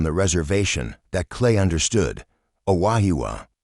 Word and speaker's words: Aahwa: "Aaya!" It wasn't until Dr. Sarah Running Bear arrived from the reservation that Klay understood. "Aahwa," she said, pronouncing the word correctly.